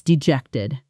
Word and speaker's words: dejected: That's dejected. Shadow it. Dejected. Dejected. Stress on the second syllable.